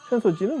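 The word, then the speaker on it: 浅草寺: 그런데 나카미세 상점가 아사쿠사에 있는 그런 곳이라고 생각하면 되겠고 센소지는 그냥 절입니다.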